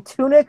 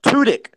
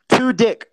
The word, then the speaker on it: Tudyk: Are you saying tunic or tudic? What? Are you saying tunic with an N? No, Tudyk. Tudyk.